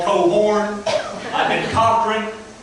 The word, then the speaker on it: Cohron: I've been called Cohron. I've been Cohron. Corn. And for those of you who don't know and thought I just said it right, no, there are 2 syllables. It's not corn.